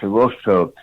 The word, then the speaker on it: Hirohito: That, by the way, is the correct pronunciation of the Japanese emperor's name. It's spelled Hirohito, Hirohito. It's pronounced Hirohito.